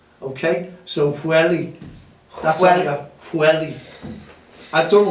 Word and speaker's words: Pwllheli: I got him in Pwllheli once. We call it Pwllheli. And when I asked the Welsh, well, it's in North Wales, they said, because it's PW, it's Pwllheli. Okay? So Pwllheli, that's Pwllheli.